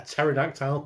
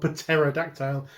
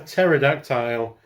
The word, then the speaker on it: pterodactyl: for a pterodact patera a pterodactyl patera dactyl i always try and say the silent p i don't know why a pterodactyl uh called wing finger